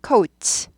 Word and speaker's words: coat: 발람이 나죠 코츠 코웃 발음은 코트 아니에요 코트 한국 말이고요 코웃 하셔야 돼요 코웃 우데 여기가 스타 카트가 있다 그랬어요 co 우가 들려야 돼요 코 코 원 coe